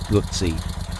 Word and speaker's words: Guzzi: I know I'm supposed to pronounce it Guzzi, but I guess old habits die hard. They will always be Guzzi's to me.